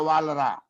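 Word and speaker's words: Walras: इसको पुकार नाम है वालरा, वालरस नहीं है, वालरा बोलता है उसे।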